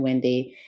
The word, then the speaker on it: Wendee: of my Broadway friends call me Wendy double e because my name is spelled w-e-n-d-e-e so the double e replaces the Y my name is full